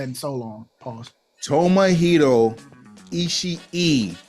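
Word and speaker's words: Ishii: so long pause Tomo isi e there are two eyes you pronounce both of them on the end that is three eyes in the name Tomo isi e not isi is e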